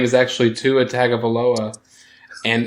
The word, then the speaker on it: Tua Tagovailoa: and I threw the name out of Tuna Altoona, to which Nasta just pronounced, oh yeah, the Alabama quarterback, whose name is actually Tua Tagovailoa.